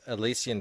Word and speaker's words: Elysian: i missed that okay michael oden creator of elysian fields uh is that how you pronounce it elysian or is it yeah you're